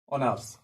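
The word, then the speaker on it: honours: আচ্ছা, মনে করেন যে শি ইজ, আচ্ছা আমি বাকিটা লিখলাম না, শি ইজ কি আছে, অনার্স। ঠিক আছে, অনার্স। এখানে শি ইজ অনার্স আছে, এখানে কিন্তু এইচ এর উচ্চারণ হচ্ছে না, এইচ এর উচ্চারণ হচ্ছে না, তার মানে কোনটার উচ্চারণ হচ্ছে, ও এর উচ্চারণ হচ্ছে।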